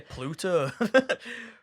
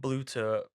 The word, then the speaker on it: Bluto: is Popeyes and I say Pluto. Popeye and Bluto bilge rat barges.